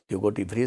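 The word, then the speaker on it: Hugo de Vries: was the contribution of hugotive fries in the theory of evolution both are pronounced you go debris very simply you can say so his theory is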